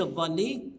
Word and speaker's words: الضالين: من من حكايه ان بعض الناس ينطق الضاد ظا لا الضاد ضاد والظاء ظا غير المغضوب عليهم وعد يقول وغير المغضوب عليه ولا الضالين لا ما فيش الضالين ولا الض ولا الضالين